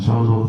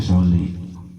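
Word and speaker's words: صلِّ: Akhir tegur sama ustaz itu, "Pak, Pak, maaf bacanya bukan solu tapi soli."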